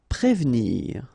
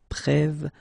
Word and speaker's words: prévenir: Prévenir, okay, remember that first you've got this accent aigu on the top of e, so here it's e, okay, and you don't insist on this here, so prévenir, prévenir.